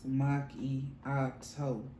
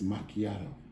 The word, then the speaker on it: macchiato: these dunkin donuts cereal so you didn't say it right you say it is monkey ox hoe i drink this stuff so i know how it's pronounced i say it's macchiato macchiato not oh it's total that's what